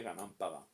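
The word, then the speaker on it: Gunung Padang: y di ganan Padón, que se escribe Gunumun Gunun Padán, leeríamos nosotros, pero se dice Ganán Padán.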